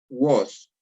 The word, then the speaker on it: vos: Aquí tengo que mencionarte que la letra V en latín es una U, entonces se pronuncia vos.